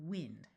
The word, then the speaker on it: wind: Mind, kind, wind. Note that this can also be the word wind.